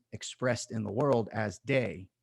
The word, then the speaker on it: Te: And the Tao is expressed in the world as day. It's spelled T-E-H.